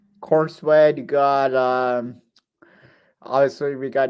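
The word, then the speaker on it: Corenswet: David Cornsweet. Cornsweet.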